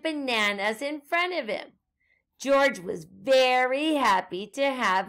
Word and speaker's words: George: letter as well and george is spelled g-e-o-r-g-e notice the g is the soft g both times making the sound of j at the zoo george